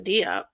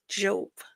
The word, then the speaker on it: Diop: later about Sheikh Anta Diop, or Job, I think that's how they say it because he's French, is because I was